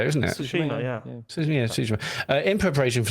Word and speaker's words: Tsushima: Tsushima, yeah.